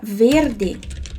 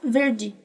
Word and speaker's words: verde: Quando a vogal E aparece junto com o D, aí é pronunciado igualzinho do português, o D, ok? Por exemplo, a palavra verde, ó, verde, verde.